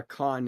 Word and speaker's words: Khan: How do you pronounce Khan? Do you pronounce it like William Shatner in Star Trek II, The Wrath of Khan?